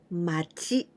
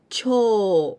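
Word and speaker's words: 町: We pronounce in kunyomi, machi, and onyomi, cho, with u. So long sound, cho.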